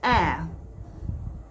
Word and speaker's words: heir: Now, this sentence is not correct because the H in the air is silent. So because it is silent, the the sound there, air, is now what is remaining. The H is off.